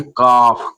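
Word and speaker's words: calf: तो हम इसको पढ़ेंगे काफ। कालफ नहीं पढ़ेंगे।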